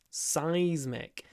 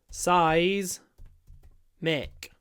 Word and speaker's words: seismic: in seismic activity seismic seismic you might not guess how to pronounce it from the spelling but it's just size mic seismic activity seismic so obviously